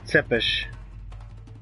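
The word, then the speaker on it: Țepeș: the vampire Vlad tepish as you pronounce normally tepish pronounced blood to fish he wasn't a vampire that's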